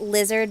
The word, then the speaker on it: Lizlord: It's you're supposed to pronounce it lizard, but it's spelled as Lizlord.